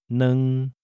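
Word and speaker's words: 兩: The number 2 is pronounced neng, neng.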